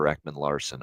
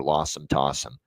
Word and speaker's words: Ekman-Larsson: Jonathan Marchessault, him calling him John Masserole is one, and the other is, of course, our guy, Oliver Ekman-Larsson, Oliver Lossum Tossum.